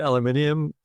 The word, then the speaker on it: aluminium: We call it aluminium. Other side of the Pacific calls it aluminum.